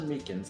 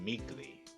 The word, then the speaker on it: Meekins: Actually, Officer Meekins at the detention center told us. Ah, that poor little doggy. Poor guy, I keep getting his name wrong and calling him Meekly.